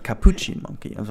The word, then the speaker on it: capuchin: and said like hey you need to make your pronunciation work by focusing on the chin it's like actually the chin on your body it's a capuchin monkey and I was